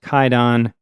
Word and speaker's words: Kwaidan: It's actually spelled Kwaidan, so it might look like it's pronounced Kwaidan, but apparently that spelling is based on a pre-modern Japanese pronunciation. So in modern Japanese, the book is pronounced Kaidan.